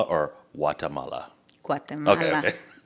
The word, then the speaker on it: Guatemala: So is it, I've heard it pronounced two different ways. Is it Guatemala or Guatemala? Okay, Guatemala. okay. It's Guatemala.